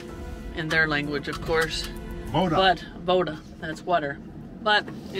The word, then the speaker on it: voda: Voda.